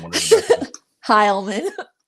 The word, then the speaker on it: Heilman: Heilman. Heilman. See, I butchered the fuck out of it earlier.